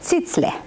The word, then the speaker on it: Zizler: Ó, é Zitzler.